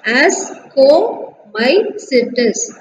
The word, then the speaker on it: Ascomycetes: Okay, similarly we have to pronounce this as ascomycetes, and here basidiomycetes.